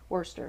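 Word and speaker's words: Worcester: holy cross out of Worster Massachusetts I learned years ago that's how they say it Worster Massachusetts um name and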